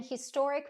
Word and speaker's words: historic: I don't know about you, but I was taught that in English, there's only a few words that begin with a silent H. Words like honest, hour, air, herb in American English. But historic wasn't on the list.